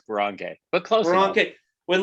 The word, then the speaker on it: Boronkay: It's Boronkay, but close enough.